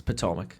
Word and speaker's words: Potomac: Not going to even try to pronounce that. It's Potomac. Potomac?